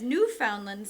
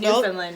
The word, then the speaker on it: Newfoundland: And he says, Newfoundland says-- Newfoundland? Is that how you say it? New-found-land. I'm going to say New-fin-land.